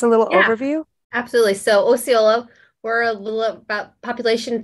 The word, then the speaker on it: Osceola: again because apparently I really messed up again Osceola okay Osceola but I think the way you pronounce it people do that all the time